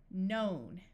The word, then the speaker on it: known: in these four combinations if you have KNN at the start of a root word meaning A word without any prefixes or suffixes the K will be silent so this sound is